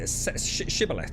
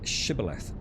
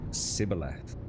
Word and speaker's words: Shibboleth: When they're guarding the crossing of the River Jordan, and many people say the word Shibboleth to prove that they're not an enemy. Who pronounced it Sibboleth?